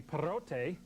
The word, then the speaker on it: Perrott: In English-speaking Ontario, you pronounce his name Perrott. But if he would go to French-speaking Quebec, it would be Perrot. And when we take him to Puerto Rico, it's going to be Perrote, which we think stands for big smelly dog.